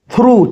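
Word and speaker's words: through: थ्रू टी एच आर ओ यू जी एच जी एच यहां पे silent है।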